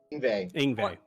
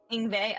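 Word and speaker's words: Yngve: So, Egwene, is that how you say his name? Whatever. Ingve. Ingve. Okay.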